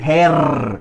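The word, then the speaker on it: Herr: termina en er Sí en alemán estándar es uno lo diría que como con una a sino no pronuncia la r no dice el Señor Jones los suizos sí que pronuncian eso ellos dicen here así her Jones eso sería un suizo hablando Así es claramente y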